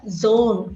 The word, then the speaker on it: zone: The pronunciation of Z is Z, just like a mosquito. When a mosquito passes next to your ear, it makes a sound. That is a sound of Zone.